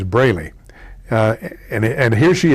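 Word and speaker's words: Braley: was campaigning on television she kept calling him Bailey uh his name is brayy uh and and here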